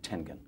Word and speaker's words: Tengen: Senior Vice President, Marketing and Sales of Tengen. T-E-N. T-E-N-G-E-N. Tengen, hard G.